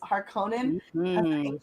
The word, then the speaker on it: Harkonnen: dune because of house atreides and the house harkonnen rival in the books good job on the pronunciation thanks i feel like you're being sarcastic